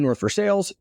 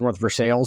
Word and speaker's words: North Versailles: Primanti Brothers restaurant in North Versailles. And the way I'm from the Pittsburgh area is because I know it's pronounced North Versailles and not North Versailles.